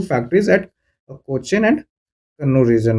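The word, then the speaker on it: കണ്ണൂർ: और फिर कोचिन से होने के बाद ये कैनानोर गया। कन्नूर आप कह सकते हो आज का। यह एक्चुअली कन्नूरी है। इन्होंने यह यूरोपियंस का वर्ड को बोलने का एक मिस प्रोनाउंसिएशन के चलते यह कहना हो गया है। बट यह है कन्नूर ही।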